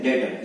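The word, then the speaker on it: debtor: ठीक है, plus डेटर, ये इसको यहां पर बी साइलेंट होता है, ध्यान रखें, इसको डेप्टर नहीं बोलते हैं, इसको हम बोलते हैं डेटर, ये बी साइलेंट होगा, ठीक है।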